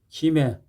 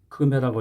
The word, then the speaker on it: 김해: 김해 경산남도에 있는 지역 이름이라 이것도 금해라고 하지 않고 김해라고 발음을 합니다.